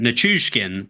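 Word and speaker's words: Nichushkin: play once again Tatar Taves nikishkin uh NuSkin NuSkin that's how you pronounce his name that is out of the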